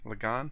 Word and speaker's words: Lagaan: How did they pronounce it? Actually, Lagaan. Lagaan. Lagaan. He really stretched out the "on" part of that.